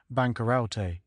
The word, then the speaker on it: bankarote: first folio of Shakespeare the word is printed bankarote pronounced as four syllables but this was altered